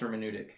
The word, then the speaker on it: hermeneutic: No, I believe it is pronounced hermeneutic. Yeah, I believe that's correct, although...